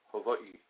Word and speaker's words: Hawaii: in Hawaii in Hawaii that's the way to pronounce it hav Havi I still remember some Hawaiian words I lived